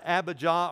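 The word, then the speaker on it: Abijah: and then his son ABBA jaw or Abba Jam two different pronunciations he reigned only three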